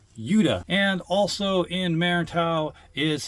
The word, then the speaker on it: Yuda: No, not Yoda, Yuda.